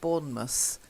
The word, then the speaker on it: Bournemouth: so the first one Bournemouth okay we don't say mouse we tend to say must Bournemouth Exmouth okay try it wanna